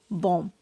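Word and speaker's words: bomb: B silent होता है, जैसे कि बॉम्ब। इसे बॉम्ब नहीं पढ़ेंगे, बॉम्ब। यहाँ पर बी साइलेंट है।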